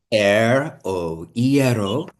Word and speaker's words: ieró: your bread so the the easiest way to remember it e as in the a i breath e oero it actually comes from